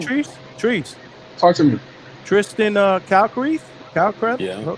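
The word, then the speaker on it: Kalkreuth: Tristan Calcreath? Yeah. How you pronounce his last name? Oh, Kel Crew.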